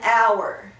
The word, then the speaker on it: hour: So how many syllables in hour? Hour. One syllable. So if you hum it, it might almost sound like two, but if you hum it, it's just one syllable.